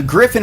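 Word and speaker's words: Gryphon: the way use uh griffin is not spelled you know like normally yeah normally so how is it spelled g-r-y-p-h-o-n yep l-a-b-s griffin labs griffin is spelled like the mythical creature if there are any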